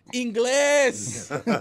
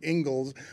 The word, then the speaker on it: Ingles: left hand go up, Inglés. I do pronounce his name wrong all the time because it's Spanish for English, and I don't pronounce it Ingles. I just pronounce it Joe Inglés.